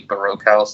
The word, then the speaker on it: Baroque House: A Baroque House, like a broke house.